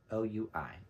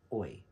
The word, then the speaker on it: Oui: O-U-I. Oui. Oi is what it looks like, but I think it's called Oui is how you pronounce it.